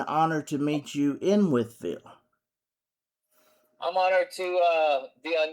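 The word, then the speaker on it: Wytheville: I mean that the audience, and it's Whitfield, right? I don't want to say it wrong because I know a lot of people get the name wrong. Withville, Virginia. Yes.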